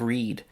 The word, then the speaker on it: read: Also, English has letters that are not pronounced. The K at the beginning of knife, the A in the middle of read, or the E at the end of safe.